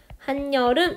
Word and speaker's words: 한여름: 예시를 하나 가지고 왔는데요 한여름 이라는 단어만 생각해 봅시다 한여름 할 때 실제 우리 바람을 하니 얼음이 아니라 한여름 이렇게 발음을 하 시 죠 즉 요 이 자리가 원래 빈자리 잖아요 이응 이니까 요 어떤 자리에 ed 애니 갑자기 추가로 발음이 되게 됩니다 한여름 이렇게 그래서 요렇게 한여름이 한여름 으로 발음되는 것처럼 원래 어떤 의문이 갑자기